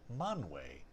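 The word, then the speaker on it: Manwë: So, unless I eventually find that mysterious passage, I'm going to start pronouncing the W umlaut E as way, as in manwe and fienwe.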